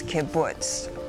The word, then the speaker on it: kibbutz: on a communal basis kibbutz kibbutz sorry it's kibbutz are there any alternate pronunciations kibbutz can you use it in a